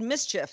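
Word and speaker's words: MSCHF: a project from a company called mischief that's spelled ms chf it's a brooklyn-based ideas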